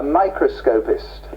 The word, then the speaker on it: microscopist: more specifically i read that i hesitate to pronounce a microscopist people never get that word right i wonder